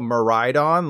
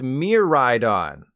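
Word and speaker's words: Miraidon: boom got em but since this Pokemon is based on the Japanese word for future that means it's pronounced Mir ride on which doesn't open things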